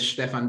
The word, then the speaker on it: Stefan: is did i pronounce your name right is stefan okay great pronunciation yeah all right excellent my german is